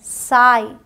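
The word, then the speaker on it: sigh: दिया अब यहां समझिए जब आई जी एच आता है तो भी लॉन्ग आई का साउंड होता है साई यहां जीएच का अलग से साउंड नहीं है कह सकते हैं कि ये साइलेंट है साई हाई एन आई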